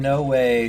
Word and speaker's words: Noe: I think I might be one of the few people that calls him Noe and not Noea. And Noe sounds like you're missing a spot there. Well, to be fair, I think when I met him, he was pronouncing it Noe himself. So, there's that. Oh, in that case, that's the right way. That's the proper way.